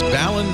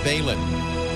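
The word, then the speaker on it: balun: Laport The Tech Guy it's ballon not Balin I always said Balin but I guess a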